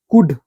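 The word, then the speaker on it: could: L silent होता है डी के पहले एल बोल रहा है कुड कुड कहां पढ़ रहे हैं कुड नहीं पढ़ रहे हैं ओनली कुड पढ़ रहे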